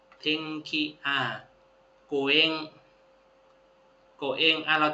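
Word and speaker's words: 天気: จำ ได้ อยู่ กตะ อัน นี้ อ่าน ว่า เทงขิ เทงขิ อ่า โกเงกะ เอ็ง อ่ะ เรา จำ คำ ว่า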